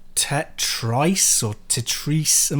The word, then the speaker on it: Tetris: found this game called tetri or tetri I'm not sure how you pronounce it but it's like it's pronounced it's pronounced Tetris ah okay right Tetris